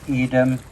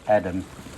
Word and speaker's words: Edam: I know we call the cheese 'Eeedam' but I'm told the town is pronounced Edam by the Dutch, so we should be calling the cheese Edam as well.